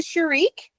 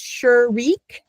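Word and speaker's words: shuruk: Okay, it's called the sharik, and there's many, many different ways to spell it. But that's one, it's sharik. And it's shoe. Like I said, when you put a shoe there, you get shoe. So shurik. You're kind of, the name of the vowel kind of tells you what it sounds like.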